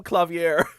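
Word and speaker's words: Klavier: and the the the video did not call him Claver Gavin they called him clavier and it's just like oh yeah I guess that that is a way to say it that's probably the right way to say it but in in this universe he is British and he is he is Claver Claver Gavin baby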